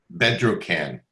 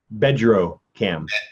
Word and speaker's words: Bedrocan: Bedrocan. Bedrocan. Bedrocan. You spell it?